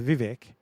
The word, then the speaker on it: Vivek: Well, I'm watching it, and the Vivek guy, they call up the guy to speak for Vivek. It rhymes with cake and ironically fake.